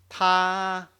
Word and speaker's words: 他: So I will say, if you want to pronounce the first tone, I want you to prolong, make it very, very long. Ta, because it's the highest part of your voice range, so you can make it very long.